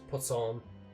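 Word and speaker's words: poisson: That's so ridiculous cuz that's just how it's pronounced in French. Pson it means fish or to fish.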